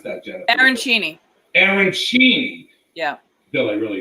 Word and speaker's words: arancini: How do you pronounce that, Jennifer? Arancini.